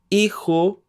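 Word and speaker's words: hijo: mom Padres means parents iho means son remember that the H is silent means daughter means children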